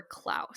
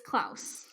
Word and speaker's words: Klaus: a big storm coming they're doing it for Klaus like oh it's Klaus sorry